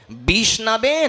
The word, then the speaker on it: বিষ্ণবে: ওম বিষ্ণায় নমহ কিন্তু বিষ্ণায়ও হয় না সঠিক উচ্চারণ হচ্ছে ওম বিষ্ণাবে নমহ।